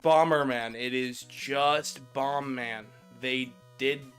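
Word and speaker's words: Bomb Man: Even though it's written in katakana as Bomberman, phonetically, it's supposed to be Bombman.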